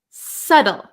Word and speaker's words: subtle: you've got it now we also have a silent B so we pronounce this word SLE SLE subtle subtle okay so this